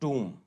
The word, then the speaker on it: tomb: TOMB है, इसको हम बोलते हैं टूम। एंड COMB, तो फिर वही B साइलेंट है, तो इट इज कॉम, जिसका मतलब होता है कंघी।